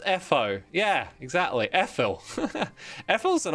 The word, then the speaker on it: Etho: It's pronounced Etho.